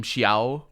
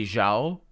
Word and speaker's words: Xiao: I have now also realized that they don't pronounce the name Xiao properly. They say Zhao. But in a game that says LaCroix, I suppose Zhao is only appropriate. Also, I think in America there's a common pronunciation of Chinese names that does say the X as a Z sound. The normal Z sound doesn't